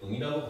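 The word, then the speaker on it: ん: 그 다음에 요 자체는 이제 응이라고 발음하는데 응으로 발음하지 않고 이응이라고 생각하시면 돼요. 이응 그렇죠? 받침 이응으로 보시면 됩니다. 근데 그게 이응으로 발음되는 경우도 있고 상황에 따라서 니은으로 발음되는 경우도 있어요.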